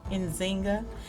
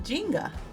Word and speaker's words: Njinga: I'm used to hearing it pronounced Nzinga, and in this movie they were saying Njinga.